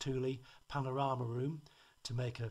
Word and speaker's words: Thule: the two bags of our Thule it is pronounced Thule Panorama room to make a full awning under